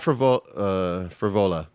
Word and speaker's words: Frevola: Matt Frevola.